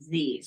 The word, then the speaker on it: ZZZ: one, we pronounce the Z's, the ZZZ. It's like the emoji ZZZ. So we pronounce it Z's.